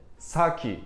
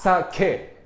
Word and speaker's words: sake: to point out mhm saki is not it's not correct pronunciation it's sake sake yeah saki is like kind of English pronounce sake is like authentic one sake s sake okay